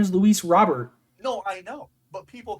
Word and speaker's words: Robert: convinced that his name his last name is pronounced Robert and he like went to the mat he like went to the map being like no no it's a French pronouncing it's a French pronunciation it's Robert said if you ask him like in interviews